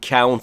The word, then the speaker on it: count: کن، و فعل عبارتی count in یعنی روی کسی حساب کردن. Count me in. نکته تلفظی اینجا count، تلفظ دیگه ای درست نیست، مثل about، مثل how، مثل loud.